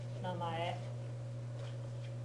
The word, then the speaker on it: namae: Yep, namae. Make sure you're pronouncing ma-e as 2 separate syllables. Don't run them together. Namae, namae.